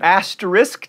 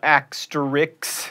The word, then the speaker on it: asterisk: triathlon not a triathlon asterisk not axe tricks and affidavit there's a